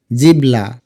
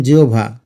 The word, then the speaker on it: জিহ্বা: এখন কিন্তু হয়েছে মধ্যান এটার উচ্চারণ অনেকেই আমরা বলি জিহ্বা জিবলা জিহ্বা বা জিবলা না এটার সঠিক উচ্চারণ জিওভা জিও ভাই তোমাকে লিখতে